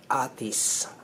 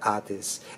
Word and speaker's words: atis: uh what's this again artis atis it's not artist it's artis okay hold on now